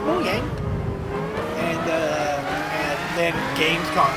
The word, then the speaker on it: Mojang: of the girls there moyang everybody flipped out like what the yeah it's pronounced moang and uh and then